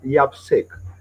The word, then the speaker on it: YAPC: Cameron called abated yapc that is pronounced as Yap SEC so y actually is